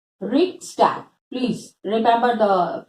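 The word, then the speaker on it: Reichstag: And हमारे यहाँ पे पार्लियामेंट कहते हैं, जर्मनी में it was called as Riksdag. Riksdag. Please remember the pronunciation also.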